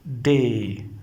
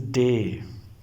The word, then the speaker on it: D: Say the writing is the same but we say day pronunciation day. So it is not D it is day.